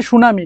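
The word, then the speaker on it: tsunami: এই সুনামি বানানটা দেখো এই সুনামি বানানটা কিন্তু এমন যদিও বলতেছি সুনামি কিন্তু এটার বানানটা হচ্ছে টি এস ইউ ঠিক আছে টি এস ইউ এন এম আই সুনামি ঠিক আছে এরকম আরো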